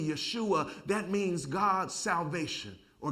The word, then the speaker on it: Yeshua: Jesus, in fact, his name, Jesus or Yeshua, or what we, terminology today, we call him Joshua, but the Jewish pronunciation would be Yeshua.